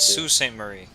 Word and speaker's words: Sault Ste. Marie: hell do you pronounce It's that? Sault Ste. Marie.